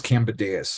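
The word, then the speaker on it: Kambadais: I was trying to Google how to pronounce that, and I couldn't find it, but I think it's Cambadeus is how you say it.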